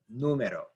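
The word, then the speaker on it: número: word is numero numero now if you are saying this correctly numero the stress is on actually the n u this syllable right here is the stressed syllable which is the third from last syllable oops sorry and if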